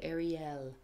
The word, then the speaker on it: Arieyl: Actually, it's supposed to be said Ariel.